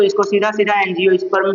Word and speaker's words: एंजियोस्पर्म: तो इसको सीधा सधा एनज स्पर्म भी कहते हैं उच्चारण ऐसे ही कर दीजिए एन जी ओ एंजियो स्प ठीक है आवृत बीजी